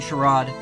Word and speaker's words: charade: all right um whatever American pronunciation is charade UK pronunciation charade okay all right well